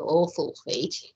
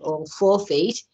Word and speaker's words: All Four Feet: of the awkward feet which i have to pronounce slowly because a few people think it's called awful feet it's actually called all four feet um so the amount